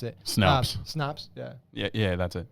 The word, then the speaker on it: Snopes: So Snoops, I forget how you pronounce it. Snops. Yeah. Yeah, that's it. Snopes, yeah.